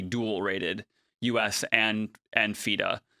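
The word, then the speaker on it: FIDE: rated, US and and FIDA. Feday. Um, I say it that way because it's a French organization. Was it French? Yeah. Most most Americans say it fed, but it's really Fida.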